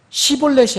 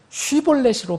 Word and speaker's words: 쉽볼렛: 만약 여러분들이 분명하게 시볼렛이 아니고 쉬볼렛으로 발음할 수 있다면, 그런 하나님의 백성이라면 여러분 그렇게 발음하면서 분명하게 세상과 구분하는 그런 발음을 하면서 이 세상에서는 지금 어떻게 살고 있습니까?